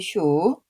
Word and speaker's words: 墮: 이렇게 구성이 되어 있습니다 떨어질 타 무너뜨릴 슈 이렇게 두 가지로 기억을 해두면 좋겠습니다이 본문에서는 무너지다라는 의미로 쓰였기 때문에 슈라고 발음을 해야 됩니다 본문을 보겠습니다 젖꼭지 탑은